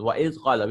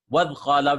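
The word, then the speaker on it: وإذ قال: We will stop and pronounce. Wa iz qala. We won't say, we won't jump it. Wad qala, we won't say, right?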